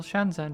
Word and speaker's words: Shenzhen: Take for a totally random example Shanzen. How do you say it? What's that doing in there? Can you just ignore the H? Spoiler warning, you can't is its own sound in Chinese.